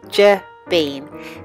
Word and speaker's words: Jabine: jabine that's me and it's pronounced J bean this is the bana